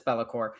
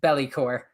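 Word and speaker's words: Be'lakor: And yes, Bellycore. I always pronounce it I always pronounce it belly because I always imagine that he's belly dancing towards you.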